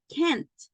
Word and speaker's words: can't: end I have K try to emphasize the pronunciation of letter T because because if you say can and you do not emphasize the end it sounds like the positive I can run fast